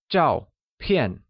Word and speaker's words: Zhàopiàn: Photo literally translates asZhàopiàn where Both Zhào and piàn are pronounced with a falling tone on a Can you try and say that? Its Zhàopiàn ..